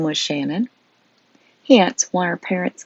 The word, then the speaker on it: Shanann: now know her as Shanann, pronounced like shenanigans.